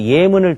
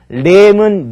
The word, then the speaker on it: 예문: 이 레자의 경우는요, 발음이 중요한데, 자, 어떻게 달라지나 발음을 살펴보면요, 전례나 설례일 때는 그대로 례로 읽히는데, 이 례가 앞으로 올 때는 어떻게 읽습니까? 례문 례시가 아니라 예문 예시가 된다는 거 함께 기억하시기 바랍니다.